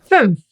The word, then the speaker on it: fünf: Fünf. Look at the smiley face here. Ü How to pronounce that?